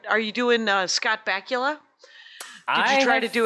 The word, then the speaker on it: Bakula: Scott Bakula's name rhymes with Butt Cracula.